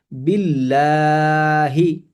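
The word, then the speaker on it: بالله: যেমন বিল্লাহি বিল্লাহি।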